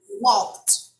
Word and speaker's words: walked: had walk along perfect walked walked pronunciation walked okay here we produce the t sound so he had quote